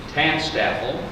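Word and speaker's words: TANSTAAFL: with one of Heinlein's favorite acronyms taxed Apple is the pronunciation the letters stand for there ain't no such thing as a free lunch this war recognizes the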